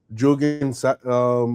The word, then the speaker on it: Jungian: Melissa Kim Corter is a deaf psychologist, author, and an expert in Jungian shadow work. Did I pronounce that right?